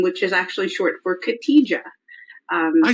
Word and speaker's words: Khadija: I say. I just like. It's okay. The J is silent in many languages, so it throws people off.